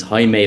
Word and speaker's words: Jaime: Although whenever I meet someone who's Spanish or Portuguese, they presume I am because my name's Jamie, but the real Uh, pronunciation of my first name is Jaime, Oh no way!